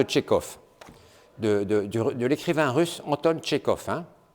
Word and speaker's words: Tchekhov: Alors tout de suite, il parle de Tchekhov, de l'écrivain russe Anton Tchekhov, hein, qui s'écrit T-C-H-E-K-H-O-V. Il y a un H après le K, Tchekhov, et ça se termine par un V.